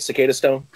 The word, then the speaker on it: Cicadastone: good man thanks for having me did i pronounce the band's name right cicada stone you did actually yeah it's it's it's funny